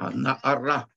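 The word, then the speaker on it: הנערה: Да, здесь одно из мест, где кри и ктив различается. Кри – это как надо читать, а ктив – это как написано. Слово наара – девица пишется с буквой гей. Здесь буква гей почему-то в Торе не пишется.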